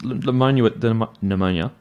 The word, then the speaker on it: pneumonia: But so this pneumonia, is it N? I think it's a P. P. Pneumonia? Yeah, it's spelled like that.